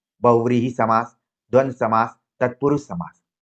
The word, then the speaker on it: बहुव्रीहि: कई बार हम लोग हिंदी में व को ब भी बोल देते हैं। बोलने में, उच्चारण में तो ब, व का कई बार अंतर नहीं हो पाता है, लेकिन लिखने में आपको ध्यान रखना है।